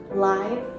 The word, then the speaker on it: live: of word but here we have live which is used as an adjective and adjectives describe nouns and it ultimately shows that it has life so live animals animals that have life that are moving around that are eating so we use live animals with that long eye sound live or we also use